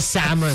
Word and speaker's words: salmon: Parang yung L sa salmon. Diba? Silent L.